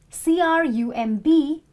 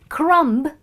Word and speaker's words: crumb: B is silent similarly c r u m b is not crumb it's crumb because B is silent then similarly this is